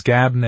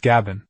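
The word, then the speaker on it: غبن: Tagabun is from Gabn, which can be pronounced both as Gabn and as Gabon.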